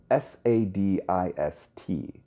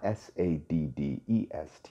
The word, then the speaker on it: sadist: what you're talking about that's sa D ist not Sadd est you know Charles Wallace said and giggled again lots of people don't pronounce it correctly well I don't care